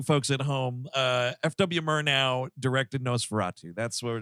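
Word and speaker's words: Murnau: at home uh fw murr now directed nosferatu that's what we're doing yeah it's pronounced like murtaugh i mean was that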